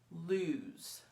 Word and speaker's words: lose: one o el OSE the S is pronounced like a Z lose lose is a verb